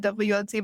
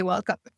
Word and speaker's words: Welcome: And then I just pronounced it WLC, but it sounds so much better when you say welcome.